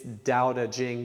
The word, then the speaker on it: Daodejing: So just if you look up Jane English, which is spelled just as you would imagine, and it's Daodejing, but spelled with T's, Tao Te, Qing, C-H, you'll find it.